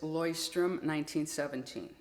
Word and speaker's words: Leuchtturm1917: If you look at the way this is written, it's not how it's pronounced, I promise you. You pronounce this Leuchtturm1917.